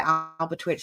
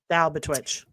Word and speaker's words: Albatwitch: Yeah, the Albatwitch. Twitch or witch? It's a twitch.